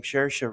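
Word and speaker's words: Saoirse: talking about not only people pronouncing her name shersha like Shira s Sai sari and all this stuff and some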